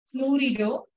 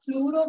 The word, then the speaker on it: fluorido: eppadi namba pronounce pannom with O sound fluorido chlorido bromido iodido Actually, fluoro, bromo, iodo is also correct, but that is old way of IPAC.